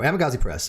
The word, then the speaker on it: Amagansett Press: I have a hard time pronouncing things. Jason, so Jason and his son, right? And Amagansett Press. There we go, Amagansett Press, and I think they do a pretty good job.